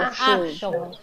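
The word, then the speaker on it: אחשוב: Achshov. Why not e? This is ch. Chet spoils the whole pattern. Chet is a guttural one.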